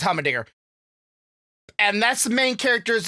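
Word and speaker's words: Heimerdinger: Might be saying his name wrong. I think it's Hummendinger.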